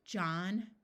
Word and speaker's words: John: disappears there are some names where the H is silent John and Durham if a word